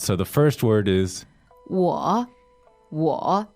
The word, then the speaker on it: 我: So the first word is 我 W-O, third tone.